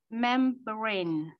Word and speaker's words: membrane: All right, so you still putting the stress on the first syllable. So try to remember to put the stress on the second syllable for the membrane.